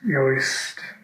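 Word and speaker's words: Yost: You want to get a good name brand like the Yoist, that's how they pronounce it.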